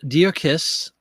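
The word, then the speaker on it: Djer-Kiss: We are talking about made in France, pronounced Dear Kiss.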